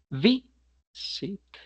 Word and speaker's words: visit: En contraste, la palabra visit no es visit, sino visit. Visit.